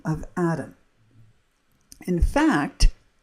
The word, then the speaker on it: Adam: And red has a lot to do with the name of Adam. In fact, the color red actually comes from the name of Adam, but it's pronounced as Adom. And that's how you get red.